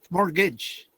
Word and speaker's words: mortgage: Security in other words mortgage mortgage you don't pronounce the T either Mortgage in the mortgage